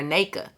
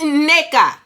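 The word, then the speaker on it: Nneka: Wendy is like oh that's cuz you saying the name wrong girl teach the people it's Nia teach the people it's a double end pronounce both of them Nia like don't nak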